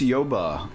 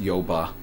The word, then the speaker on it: Yoba: How would you pronounce Yoba, your fictional little Pokemon region thingy? Like that. Yoba? Yoba. It's what is it? What's the word? Portmanteau? Well, it's taking the word Bayou and switching it around.